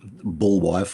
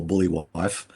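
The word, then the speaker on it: Buliwyf: And yeah, and Beowulf, or as it's sort of pronounced in the book and the film, Bullwife or Bully Wife.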